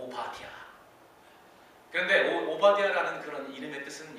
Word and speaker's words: 오바댜: 오바다도 아니고 오바댜.